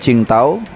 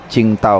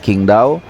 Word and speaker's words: Qingdao: fuzo sedang transit menuju cingtau ya ada yang bilang bacanya chingtaw kalau gua ggak salah ya Walaupun sebagian dari kita lidahnya itu bacanya King daw e jadi transitnya lumayan